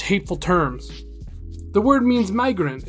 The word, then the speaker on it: Migra: nickname we have for my uncle it means migrant but it also can mean Border Patrol my